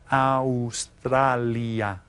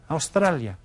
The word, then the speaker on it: Australia: Be careful of your pronunciation. Pronounce each of the vowels. Australia. Australia.